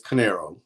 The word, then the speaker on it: Corneiro: incredible historical books welcome to the show enrique conocero good morning corinne a pleasure to be with you i hope i pronounced your last name correctly canero and many people get talked but it's canero okay great you know i um a big